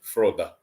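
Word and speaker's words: Frode: Rhymes with road in English. Anyway. Okay, we got it right. Brilliant. So, yeah, see, look, in Norwegian, there is the at the end. Froda.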